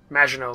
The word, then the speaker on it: Maginot: Mignon line. Maginot line, that's what it was.